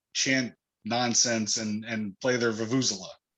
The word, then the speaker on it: vuvuzela: go there and chant nonsense and play their vuvuzela, right? More ridiculous bullshit. Wait, the vuvuzela is that long horn. Vuvu. It's Yep.